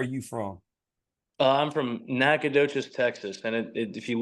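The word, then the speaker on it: Nacogdoches: from uh I'm from nacadas Texas and it if you look at the name you're not gonna be able to say it right but the g is silent so nacadas there you go from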